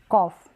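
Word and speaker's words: cough: और GH को हम प्रोनाउंस कर देंगे F साउंड में, यानी फ करके इसको प्रोनाउंस करेंगे। जैसे बोला यहाँ पर हमने कॉफ, क्या बोला?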